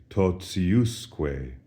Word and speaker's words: totiusque: Totiusque. Notice the accent shifts from the ti syllable to the us syllable, and as a result,